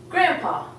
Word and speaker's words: grandpa: have grand ha except we don't even see the D when you say we say grandpa so we're actually omitting the D and to say grandpa